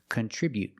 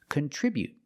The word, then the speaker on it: contribute: But the stop T is more natural and more common. Contribute. Just stop the air with the tongue and don't release the T. Contribute. Remember to put the stress on the second syllable.